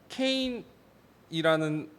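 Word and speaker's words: קין: 히브리어로 가인이라는 말은 케인이라는 발음인데 적어오진 않았지만 어떤 뜻이냐면 내가 얻었다, 얻은 자식이다 라는 표현이라고 합니다.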